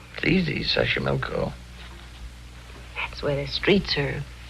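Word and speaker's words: Xochimilco: me City Tao pbla sash Sashi milco okay so you pronounce it better than I do easy Sashi milco that's where the streets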